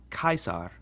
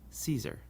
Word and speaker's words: Caesar: a CH sound, ch, but our classical pronunciation always has the C sound like a k. So this name is pronounced Caesar, not Caesar.